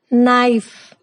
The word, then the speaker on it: knife: K is silent when it comes before N. For example, no, knock, knife, night, knowledge.